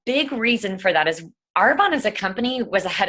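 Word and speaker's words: Arbonne: how to pronounce it is it airborne or are Bonnie or are Bonet it's our bond and what I love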